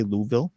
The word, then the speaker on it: Louisville: Some will say Louisville, Kentucky. I hear that's the way you're supposed to pronounce it.